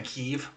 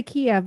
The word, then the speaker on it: Kiev: towns over there yeah when did we stop saying kiev and start saying keeve we don't we say kiev because we're american and we speak american so as of tuesday